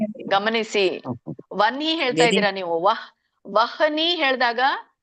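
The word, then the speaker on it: ವಹ್ನಿ: ಎದೆಯಿಂದ ಬರಬೇಕು ಅಂತ ಹೇಳ್ತಾರೆ ಹಾಗಾಗಿ ಇಲ್ಲಿ ನ ಅನ್ನೋದು ಮೊದಲು ಉಚ್ಚಾರಣೆ ಆಗಬೇಕು ಯಾಕೆಂದ್ರೆ ಹ ಅನ್ನೋದು ಎದೆಯಲ್ಲಿ ಬರಬೇಕು ಅಂದ್ರೆ ನ ಅನ್ನೋದನ್ನ ಮೊದಲು ಉಚ್ಚಾರಣೆ ಮಾಡಬೇಕು ಈಗ ವನ್ಹಿ ಅಂತ ಹೇಳಿ ನೋಡಿ ವನ್ಹಿ ವನ್ಹಿ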